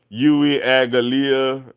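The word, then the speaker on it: Uiagalelei: And if you're wondering how to pronounce it, it's Yui Agalia.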